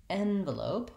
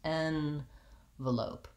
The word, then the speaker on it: envelope: We have envelope, our red tent vowel, eh, comes at the beginning. So rather than starting with a short reduced in, we have this clear vowel N, and this syllable is longer, envelope.